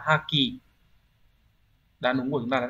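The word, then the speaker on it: 破棄: Thì chữ phá này chắc chắn sẽ đọc là ha. Chúng ta sẽ loại trừ được ngay phương án số 2 là hai này, không phải này. 4 là hô cũng không phải. Đấy, vậy chỉ còn là một hay là ba thôi. Đằng sau là chữ khí sẽ đọc là ki đúng không? Như vậy sẽ là haki.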